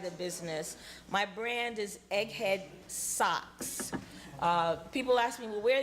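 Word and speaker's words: Egghead Soques: a little Egghead so the name of my brand is Egghead socks but it's spelled s-o-q-u-e-s I made it up so people wouldn't think I sold socks but it's basically um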